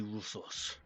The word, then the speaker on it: Russos: You may call me Russos. Rusos? Ruthos? Russos. Can you spell that? Russos. Russos. Okay.